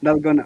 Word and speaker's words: Dalgona: I, Dangona? Dalgona. I definitely pronounced that.